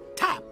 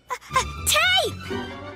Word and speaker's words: tape: like top ah but this is a silent e and when we put it at the end of a word the silent e makes the other vowel say its name the other vowel is that a so that's a tape tape that's correct my boy